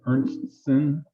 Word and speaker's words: Ernstsen: pronounce her name Ernstson, and she's a local member here.